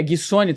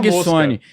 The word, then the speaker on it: Guissoni: Como é que é? Guissoni, tá certo? Guissoni, perfeito. Inclusive, é difícil alguém acertar de primeira e você foi... Já foi. Guissoni, economista.